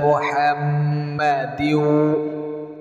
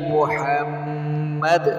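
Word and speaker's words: محمد: হবে না বললে হবে না আল্লাহুম্মা বারিক আলা মুহাম্মাদি ওয়ালা আলি মুহাম্মাদ বলেন বলতে হবে ইব্রাহিমা ওয়ালা আলি ইব্রাহিম ইন্নাকা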